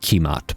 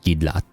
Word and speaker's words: Kimat: It's not Kimat, by the way. It's just spelled that It's pronounced like Gidlot when I looked it up.